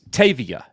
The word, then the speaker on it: Tavia: And it's Tavia. Yeah, Tavia. That's yeah. how you say it.